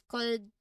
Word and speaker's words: could: So even though they are spelled with an L, when we say them, L is completely silent. We pronounce them as could, should, and would, not cold, wold, and should.